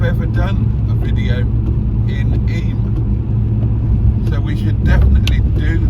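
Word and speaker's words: Eyam: is the famous plague village of Eam, E-Y-A-M, pronounced Eam.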